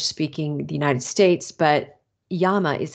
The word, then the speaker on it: llama: animals so um couple things about naming uh llama is a term that we're familiar with in English speaking the United States but Yama is how that's pronounced and uh wool is